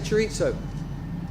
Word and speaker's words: chorizo: Alberto, how do you say chorizo? How do you what? How do you pronounce chorizo?